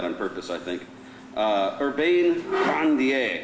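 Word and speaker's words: Urbain Grandier: purpose i think uh urbane grandier is the way she should pronounce he says i should pronounce it but i'm not going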